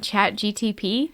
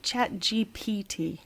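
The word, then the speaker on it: ChatGPT: And I thought at the moment, by the way, it's chat GPT. I've been saying it wrong this whole time. Chat GPT. GPT. Good to know. G. That's alphabetical order. It's alphabetical order. Oh, alphabetical order would be GPT.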